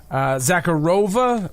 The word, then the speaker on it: Sakharova: at the Plaza Hotel Zakhar rova I've been saying it wrong Zachary Ava's lawyer is